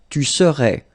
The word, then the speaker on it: tu serais: Same rule here, no pronunciation of the final S. Tu serais.